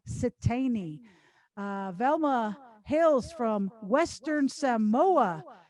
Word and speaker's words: Siteine: for tom e i n for nancy e pronounced satani velma hails from western samoa the samoan islands